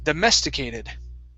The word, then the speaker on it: domesticated: is domesticated okay so our stress is going to be here and we'll go down on the rest of the word okay domesticated domesticated okay very good